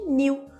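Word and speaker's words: knew: tenho mesmo em cima pronúncia de New porque no inglês quando a gente tem KN olha aqui Ahan junto o cara mudo Então essas duas palavras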